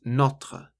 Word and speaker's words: notre: This is pronounced notre, so it's an o sound rather than u sound.